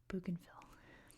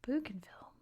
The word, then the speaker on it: Bougainville: like that, but uh I speak American English, so I'm going to pronounce it in American English, which we say Bugenville. That's how I'm pronouncing it. Bugenville.